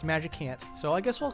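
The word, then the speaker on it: Magicant: looking environment and then for majus ant or magic ant depending on how you want pronounce it a lot of people are very sure that's magic ant so I guess we'll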